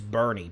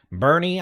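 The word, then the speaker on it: Boerne: So, one of the towns I used to mispronounce is Bernie. B O R N E.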